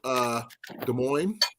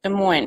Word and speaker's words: Des Moines: Where's And Newton is east of Des Moines.